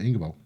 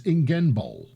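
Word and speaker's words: Ingenbohl: Right, so this is going to be the Ingerbol. Hang on, I've been pronouncing this wrong. It's Ingenbol. Ingenbol.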